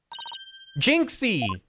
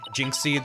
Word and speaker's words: Jinxie: I figure it's more like Jinxie than like Jingxie, which would be more Chinese pronunciation anyway than Japanese.